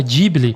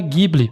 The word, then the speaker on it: Ghibli: O próprio Miazak pronuncia a diible, que é o mais normal para falar em japonês. Só que a palavra original em italiano se pronuncia Gible. E eu escolhi falar Gible porque é o jeito que eu sempre falei, mas vocês vão ver essas variações e não tem certo ou errado.